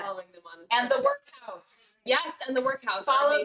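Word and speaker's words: Werkhowse: And the workhouse. Yes, and the workhouse. Follow the workhouse. Yes. Not spelled like it sounds. W-E-R-K. H-O-W-S-E.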